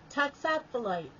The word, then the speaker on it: toxophilite: other word of the day is toxophiliti failure pronounce it talks off the light toxaphilite yes I was wrong toxophilite is a noun it means a student or